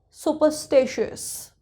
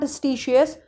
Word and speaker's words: superstitious: So superstitious, superstitious. Okay, not stitious, superstitious.